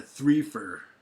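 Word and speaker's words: threefer: I'm doing a three for, rhymes with reefer, eh?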